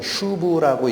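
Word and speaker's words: שוב: 좀 어려운 낱말이지만 히브리어 원어로 쓰면 슈브라고 읽히는 단어입니다. 슈브.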